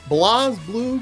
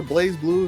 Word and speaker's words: BlazBlue: are back with some blas blue cross tag battler blaze blue if you like to use the american pronunciation jokey sam is here